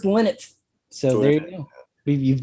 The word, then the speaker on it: Lynott: We kept debating, how do you say Phil Lynott? Leno. I've been told it's Lynott.